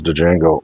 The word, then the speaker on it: Django: in a second here's Django D Jango unchain all right the D is silent a nice nice Steel